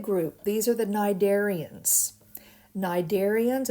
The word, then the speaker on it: cnidarians: these are the cnidarians cnidarians it begins with a c the c is silent and these include things